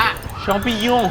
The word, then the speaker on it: champignon: ซื้อ ได้ ไม่ ยาก ออก เสียง ที่ ถูก ต้อง ออก เสียง ว่า ชปิยุง ชปิยุง พี่ พี่ น เป็น คน ฝรั่งเศส นะ ครับ ต่อ